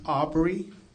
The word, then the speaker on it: Albury: Okay, can you tell us how to pronounce it? Aubrey and Mazik Kelly.